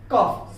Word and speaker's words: cough: जहां कहीं भी किसी भी अंग्रेजी के वर्ड में आपको UGH मिलता है और उसके पहले O आए तो आप उसे साइलेंट कर लीजिए। जैसे कफ, COUGH कफ, ROUGH रफ, ये चीजों में देखिए वहां पर O साइलेंट रहेगा।